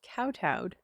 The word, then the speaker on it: kowtow: It is pronounced kowtowed.